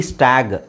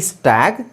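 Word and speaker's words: stag: ಉಚ್ಚಾರಣೆ ಏನಾಗುತ್ತೆ ಗೊತ್ತಾ ಎಸ್ಟಿಎಜಿ ಸ್ಟ್ಯಾಗ್ ಯಾಕ ಹೇಳಿ ಇದಕ್ಕಿಂತ ಮುಂಚೆ ನಾನ ಏನು ಹೇಳಿದೆ ಕೊನೆಯಲ್ಲಿ ಜಿ ಬಂದ್ರೆ ಅದನ್ನ ಗ ಅಂತ ಹೇಳಬೇಕು ಸೋಎಸ್ಟಿಎಜಿ ಸ್ಟ್ಯಾಗ್ ಎಸ್ಟಿಎಜಿಇ ಸ್ಟೇಜ್ ಪಿಎಜಿ ಪ್ಯಾಗ್ ಪಿಎಜಿಇ ಪೇಜ್ ಸೋ ಇದು ಈತರ ಬರೋದಿಲ್ಲ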